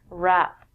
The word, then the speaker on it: wrap: We don't say the W when we say this word wrap.